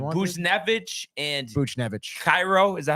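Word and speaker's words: Kyrou: Cairo, is that how you say it? Uh, Jonathan? Kairu.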